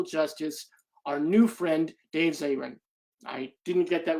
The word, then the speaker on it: Zirin: Yeah, it's Dave Zirin, and it's totally okay. I think my mom mispronounces it sometimes.